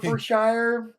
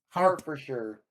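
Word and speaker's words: Hertfordshire: It's hard for It's pronounced like hard for sure.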